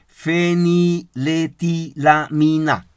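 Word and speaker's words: feniletilamina: como pronunciar esta palabrita zen y lety la mina así se pronuncia esa palabra y el amor también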